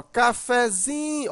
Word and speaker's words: cafezinho: Mas quando você usa um derivado dela, por exemplo, cafezinho, a sílaba mais forte agora não é mais o fé e sim o zinho. Chamando a palavra, ó, cafezinho. Observa que o zin, né, você demora mais.